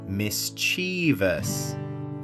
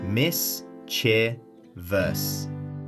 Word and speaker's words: mischievous: The trap? Adding an extra syllable that doesn't exist. I hear this all the time. Mischievous. 4 syllables. It feels more dramatic, right? But the word only has 3 syllables. Mis-chee-vee-us. The stress is on the first syllable, miss.